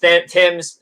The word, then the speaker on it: Thames: burkman Lance burkeman and Marcus Thames Tims uh I don't know but spell themes pronounce Tims here are guys and